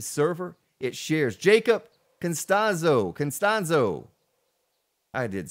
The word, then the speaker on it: Costanzo: Costanzo.